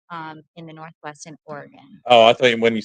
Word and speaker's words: Oregon: no like totally different so you pronounce Oregon I have always pronounced to Oregon is there a dispute over there how's pronounced Oregon I think it's like everyone in Oregon like home base is Oregon if everywhere else it's like no it's Oregon oh God that's just